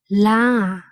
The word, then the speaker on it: လား: Okay, la. Can you say it? La. Okay, it sounds like the vowel in car, far, but there is one difference. In Burmese, we don't say rot sound, so we have to say la.